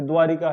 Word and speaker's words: द्वारका: अब जब अहल्या बोलेंगे, बहन बोलेंगे, वापस बोलेंगे, द्वारका बोलेंगे तो लिखेंगे भी शुद्ध। जब हम बोली द्वारिका रहे हैं, अहिल्या रहे हैं, वापस ये बोल रहे हैं तो फिर लिखेंगे भी तो गलत हम, ठीक है।